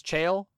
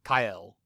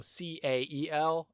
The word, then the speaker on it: Cael: I had realized that I had been mispronouncing one of the names of the Cantu, the Astral Sea equivalent that I'd been saying as Chael. In the Latin, actually, it would be Cael. So C-A-E-L, and the Latin is pronounced Cael.